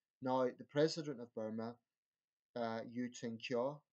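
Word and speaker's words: Htin Kyaw: the president of Burma you tink jaw I think that's the correct pronunciation I'll try again you tin jaw I think the K in Burmese is pronounced as a J under you years sort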